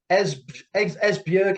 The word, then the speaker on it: Esbjerg: And I hope I'm going to pronounce this properly. Is it the Esbjerg Energy?